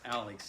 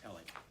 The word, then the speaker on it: Alex: down there in the ellick area not much and for those that are new here it's not pronounced alex even though it's spelled like alex but it's pronounced ellie if you're from there and next week's storm